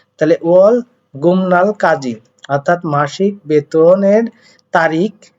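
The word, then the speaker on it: 월급날: এখন দেখেন এখানে ওয়াল গুপনাল তো উচ্চারণ হয়, তাহলে আমি কেন গুমনাল পড়লাম? আপনারা তো জানেন বিউব বাচ্চিমের পরে কিসের পরে? বিউব বাচ্চিমের পরে নিউন আসলে বিউবটা কি হয়? ম হয়।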